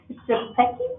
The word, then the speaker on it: Shepke: Shepke? Sometimes it's pronounced like an A. Shepke. Okay, Shepke.